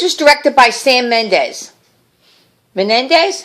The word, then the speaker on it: Mendes: Menendez? How do you say his name? What do you say? Mendes.